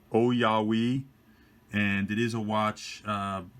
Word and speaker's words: Ouyawei: or an automatic watch believe you pronounce the name o yah we and it is a